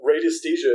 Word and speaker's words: radiesthesia: And the term is radiesthesia, Radesthesia. Very, very difficult word to spell, but radiesthesia is how it's pronounced.